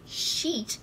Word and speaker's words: sheet: __ ] of paper oh I think you're mispronouncing one word it's sheet of paper sheet okay oh my goodness